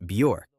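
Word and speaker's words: Björk: In addition, the correct way to pronounce it, according to her in an interview, is bure.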